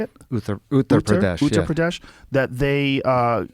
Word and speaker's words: Uttar Pradesh: Uttar Pradesh, Uttar yeah.